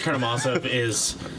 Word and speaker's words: Karamazov: So the book is actually Bratya Karamazovi. Okay. Yeah, so that's how you need to pronounce it from here on out. Otherwise, you're a poser.